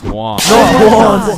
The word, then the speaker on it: Juan: That's just how it's pronounced. Jan. Is there Jawan in the room? It's Juan.